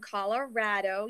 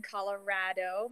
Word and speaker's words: Colorado: I am from Colorado. Yes, I said Colorado. Many of you may not know it as Colorado, but that is how it's said.